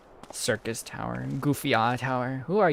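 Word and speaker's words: Syrcus: Circus. Like a clown. Circus tower. It's not psych. It's not cyus. Cycus. Circus. Circus. Cir. That's just circus but pronounced like French.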